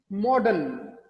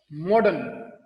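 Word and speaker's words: modern: एक है कि इसके बाद कोई कॉन्सोनेंट आ जाए, उस सूरत में भी साइलेंट, जैसे M-O-D-E-R-N, मॉडर्न, क्योंकि आर के बाद सिर्फ न साउंड है, न, आर साइलेंट, मॉडर्न, वॉल की कोई साउंड नहीं है इसमें।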